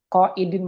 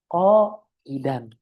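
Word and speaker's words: قاعدًا: menjadi huruf ma'tuf, dan qaidin merupakan atof dari qaiman yang ma'tufnya adalah qaiman, maka yang dibacanya qaidin. Tidak, jawabannya adalah qaidan.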